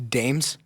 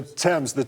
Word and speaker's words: Thames: The Dames? The Thames River. We'll give you that. It was just a mispronunciation.